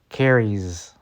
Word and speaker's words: carries: So we have carry, Z, carries. She carries her books to class. So we just have carry, we add the Z sound at the end.